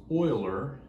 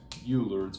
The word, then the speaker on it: Euler: did his name was uh his name was oiler swiss um it's not pronounced euler's euler so euler comes along uh and he